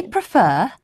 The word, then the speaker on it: prefer: never rhymes with nation say prefer but preferable comfortable and vegetable bee must not be